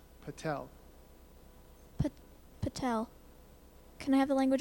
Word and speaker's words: Patel: I are dois boudoir please spell Patel but Patel can I have the language of origin this